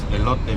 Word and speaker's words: elote: lot how do you say honey this is elote me ele me it's a kind of elote